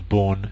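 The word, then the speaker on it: Bourne: what we call the born shell born is spelled b u r NE e as you can see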